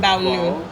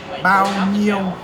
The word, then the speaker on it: bao nhiêu: So it's not Bao Nu. Yeah. Just the word Yeah. To say how much? bao nhiêu. Nyo. Bao nhiêu. Bao nhiêu. Yes. Okay. Nyo. Yes.